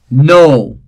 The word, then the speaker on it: know: Know, again the initial K is silent.